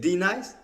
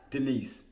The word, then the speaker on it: D-Nice: She said D Nice, Denise. Say your name right. Denise? No. Denise? No. Say it correctly. D-Nice. There you go.